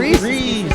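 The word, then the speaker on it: Rhiz: Reese, like Reese.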